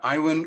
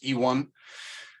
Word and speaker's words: Iwan: So my name is Iwan, or actually the way that my parents intended to pronounce it's Iwan.